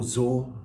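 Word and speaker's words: Szor: the way there was daniel zaw i believe that's the pronunciation of his surname s-z-o-r a wealthy american in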